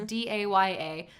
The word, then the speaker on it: Daya: there called New by Daya, I think is how you pronounce her name. It's Daya.